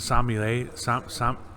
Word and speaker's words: sommelier: And there was a guy who played the sommelier.